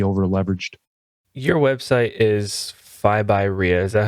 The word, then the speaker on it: FIBYREI: want to be over leveraged your website is phi by rhea is that how you pronounce that yeah so that's f i b